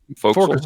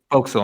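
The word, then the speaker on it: forecastle: voxel oh yeah it's it's spelled like four castle that's like the fork smoke folks yeah folks yeah i kept on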